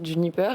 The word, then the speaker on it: JNPR: vous le prononcez bien ça se prononce Juniper et ça s'écrit jnpr j'ai enlevé les voyeles comme j'ai enlevé l'alcool dunp en anglais c'est